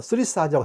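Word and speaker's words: Thurisaz: 쓰리사즈라고 하게 되는데, 쓰리사즈라고 하게 되는데, 이 son이에요.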